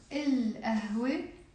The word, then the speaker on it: القهوة: القهوة يعني the coffee. Then we said كابوس, nightmare. الكابوس, the nightmare. Okay, so all of these 5 are moon letters. So we have to pronounce the lams in the.